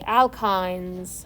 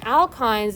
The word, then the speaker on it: alkyne: also show you like alkynes i tend to do this okay and alkynes is like cnh2n minus soup and then etyne and so alkyne again your book says it rhymes with wine alkyne etine propine one